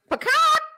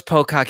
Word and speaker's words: Pocock: I know it's Pocock, Ed, but you know, he put that because last week we did the chicken sounds. We did. I know that's not how he pronounces his name.